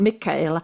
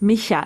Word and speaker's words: Michaela: No, it's not Mika. Everyone is saying Mika. It's not with a K. It's Misha.